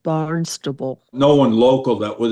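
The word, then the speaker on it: Barnstable: tan was barnable and he said Barn stable because it's spelled that way but up there they call it barnable no one local that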